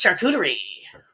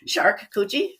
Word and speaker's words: charcuterie: Barrels and Boards, charcuterie. Charcuterie. I love that word. Charcuterie. Shark coochie? Yeah. That's how other people say, a charcuterie board. They don't know how to say it.